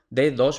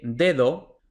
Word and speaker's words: dedo: D en español, entonces la pronunciación real de dedo no es dedo, como suelen pronunciar los extranjeros, no es dedo, no, un nativo dice dedo.